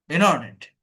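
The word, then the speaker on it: internet: Drop T, ইন্টারনেট, ইন্টারনেট, in, turn, টার্নেট, ইন, আর্নেট, অর্থাৎ ট বলতে যাব, বলতে বলতে পড়ে যাচ্ছে, এটা বলে ড্রপ টি।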